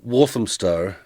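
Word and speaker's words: Walthamstow: you say it yeah so it's wam walam Stow so it's kind of pronounced a bit weird so London is split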